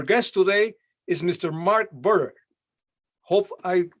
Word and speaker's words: Buhrer: pleasure just tell me did i pronounce your surname right bearer that's sufficient it gets pronounced in many different uh different manners uh you you're one of the closest okay i feel happy